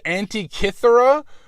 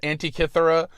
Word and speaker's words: Antikythera: And I nailed Antikythera, which I looked up like 5 different pronouncers that all sounded a little different, and I got Antikythera, but I didn't get zoetrope.